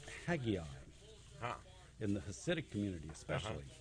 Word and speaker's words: Haggai: i've never in person met anybody else named haggai i i know in in israel it's pronounced haggai in parts of like in the new york